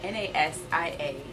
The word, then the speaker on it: Nasia: And if you want more skin tips or more information, you can always follow me on Instagram at Nasia, N-A-S-I-A. It's pronounced Nasia.